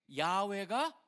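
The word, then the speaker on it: 야훼: 근데 캐톨릭 같은데 야외로 돼 있고 실질적으로 학자들이 연구를해 보니까 야외가 더 원래의 발음에 가깝다라고 학자들이 보다 보니까 이제는 사실 뭐 우리나라의 가장 커다란 교단 중에 하나인 순복음 교단에서는 다 야외라고 읽습니다. 그 이유 때문에.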